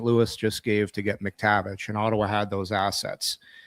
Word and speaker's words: McTavish: It's McTavish, not McTavich.